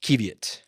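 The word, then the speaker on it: qiviut: hold on hold on is this pronounced kevit or is it keev yet there it is kevit oh oh wait oh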